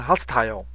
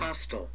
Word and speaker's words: hostile: 英国人是把它发成 hostile，美国人把它发成 hostile，不友善的哈，敌对的哈，hostile。